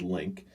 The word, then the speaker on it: LinQ: I'm gonna guess that might be pronounced Link.